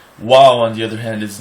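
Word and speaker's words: וָו: most people pronounce it Vav, which is incorrect, because in Europe, a lot of European languages don't have the W sound. Wow is a W, not a V.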